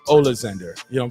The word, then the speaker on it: Oleksandr: he looked like um the american version of it would be alexander ulster um but it's ola zinder you know i'm saying